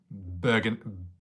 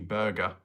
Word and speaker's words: Bergen: Bergen. Bergenator. I can't believe in the past I called you burger because I didn't know how to pronounce it.